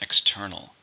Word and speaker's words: external: How many syllables are in external? 3. Stress on the second.